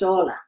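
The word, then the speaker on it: Orla: your name pronounced amanda it's pronounced hola everything is silent except for the o-r-l-a just to confuse things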